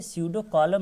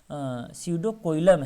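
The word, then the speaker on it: pseudocoelom: ये स्यूडोकॉलम नहीं है बल्कि स्यूडोकोइलम है।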